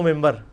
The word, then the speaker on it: منبر: ہوئی ہے، محراب و ممبر. ممبر کے سپیلنگ کیا ہے؟ من بار، لیکن پڑھا کیا جاتا ہے؟ کیوں؟ کیونکہ نون کے بعد، نون ساکن کے بعد بار ہے.